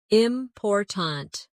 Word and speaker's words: important: For example, in the word important, we stress the second syllable, important.